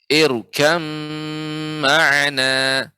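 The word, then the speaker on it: ارْكَبْ مَعَنَا: itu pada dua kata irkab ma'ana. Namun cara membacanya adalah ba yang sukun diidghamkan ke huruf mim sehingga dibaca dengan menjadi irkam ma'ana. Irkam ma'ana.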